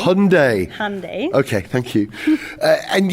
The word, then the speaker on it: Hyundai: Hyundai rhymes with Monday. Hyundai. Hyundai.